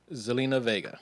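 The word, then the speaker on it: Zelina Vega: know what's what's her name i i can't pronounce it zelena vega thank you selena vega um so she's been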